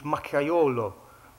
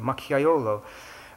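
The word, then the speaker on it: macchiaiolo: dialect term I guess is um uh is makayolo spelled with a spelled with a J in the middle there machiolo so that when a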